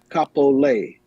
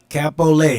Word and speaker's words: Kapolei: Kapolei. Kapolei is the way to pronounce it.